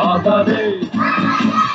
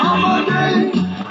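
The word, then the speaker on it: Håfa Adai: Just pronounce it as in half a day. Sing it with a beat and say it every day. Like hoppa, hoppa, hoppa, hoppa day.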